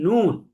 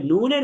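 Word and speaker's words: نون: তাহলে এটা হচ্ছে নুন। তাহলে নুনের উপরে এক নুক্তা থাকবে, তাহলে এক নুক্তা যুক্ত নুন হরফটিকে 3 আলিফ টেনে পড়তে হবে। আমরা পড়ব নুন।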